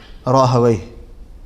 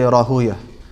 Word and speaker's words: Rahawayh: name as Rahuya, and the scholars of Arabic language would pronounce it Rahawayh, because Rahuya is the way that they would pronounce it, so they heard it like that. But if you look at, according to the rulings of the Arabic language, it should be pronounced Rahawayh.